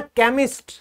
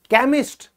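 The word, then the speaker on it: chemist: है क यहां पर क से जो शब्द शुरू होते हैं वो बोले जाएंगे चा लेकिन उसमें ये जो है ना केमिस्ट केमिस्ट केमिस्ट्री ये एक क्षेत्र है यह आप लोगों को याद रखना पड़ेगा ये स्टार बना दो ये एक्सेप्शन है वजह की रूल में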